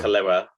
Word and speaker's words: Kaluuya: I butchered it. Apologies. It's incorrect, Ben. Shit. Is it Daniel Daniel Kaluuya? Kaluuya. It's not Daniel Kaluuya.